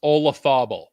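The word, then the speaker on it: Olazábal: name a loz ball somehow that name is pronounced olafobo i don't know how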